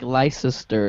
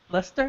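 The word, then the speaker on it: Leicester: ler city as like L sister anyone else like just you I don't know why I've always been saying and I say it wrong I'm like I'm like it's Tom Lester Lester I'm sorry but um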